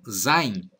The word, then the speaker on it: sein: To Be em inglês tão zaine essa palavra que começa com S e ss se pronuncia como se fosse um Z em português